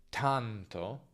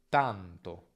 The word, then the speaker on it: tanto: In italiano non c'è nessuna aspirazione, quindi non tanto, ma tanto. Tanto, sbagliato, tanto, corretto.